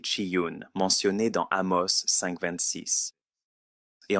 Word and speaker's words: Chiun: » Remphan est un autre nom pour le dieu Chiyun, prononcé Chiyun, mentionné dans Amos 5,26.